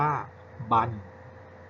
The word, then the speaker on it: บรร: ครับ อ่า น่า รัก การ อ่าน ออก เสียง คำ ที่ ใช้ บาน รอ หาย นะ ครับ ก็ คือ สระ อะ บวก กับ นอน หนู เวลา อ่าน นะ ครับ เวลา อ่าน ออก เสียง นั้น จะ อ่าน ว่า บัน บัน นะ ครับ นะ ครับ